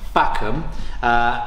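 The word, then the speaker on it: Facom: This is a Facum, pronounced correctly, it's French, Facum, lifetime guarantee tool chest with 100 and whatever pieces.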